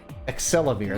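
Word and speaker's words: Axelavir: Excelivir, that's how you pronounce it.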